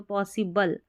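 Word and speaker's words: possible: बल पढ़ते हैं, तो पॉसिबल, बला नहीं पढ़ना, बल, पॉसिबल, विचार करते हैं इसके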